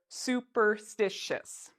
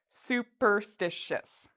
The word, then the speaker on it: superstitious: this word it's a long word we say superstitious superstitious so I had those four parts superstitious so